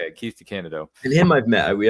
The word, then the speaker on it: DeCandido: So that's how you say it, Keith DeCandido.